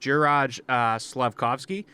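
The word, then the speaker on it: Juraj Slafkovský: out among the rest i think it's pronounced jiraj uh slavkovsky he scored seven goals leading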